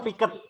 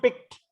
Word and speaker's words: picked: Bukan picket, tapi picked. Pick. The nurse picked up the baby gently. Jadi huruf D-nya ini disambung dengan kata up-nya ya.